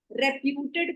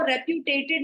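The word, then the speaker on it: reputed: एक मिस्टेक जो सारे स्टूडेंट करते हैं वो है रेप्यूटेड का प्रोनाउंसिएशन। ये हमेशा सही करिएगा, इसको रेप्यूटेटेड नहीं बोलते, बहुत बच्चे इसको रेप्यूटेटेड बोलते हैं, इसको रेप्यूटेड बोला जाता है, ठीक है।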